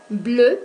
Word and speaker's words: bleue: Bleu pour les masculins, bleu pour les féminins. Prononciation identique.